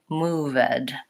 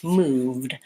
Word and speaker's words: moved: wanted and needed but I don't have move ed I just have mood moved so that if I write it out in IPA has no vowel sound between my V and my D just moved and that can be